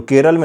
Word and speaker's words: केरलम: केरलम ही हुआ करता था और सही प्रोनाउंसिएशन जो है जो केरल में लोगों के द्वारा किया जाता है वह केरलम ही किया जाता है।